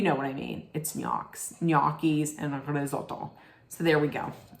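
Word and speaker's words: gnocchi: to say it most people would say it NIS nois nois but they're yies g n o c c h i I think you know what I mean it'ss yis Ando so there we go okay and I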